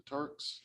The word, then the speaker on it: Turk: Riggs, the head of is it the Turks? Am I saying it right? Turk, yes. Turk.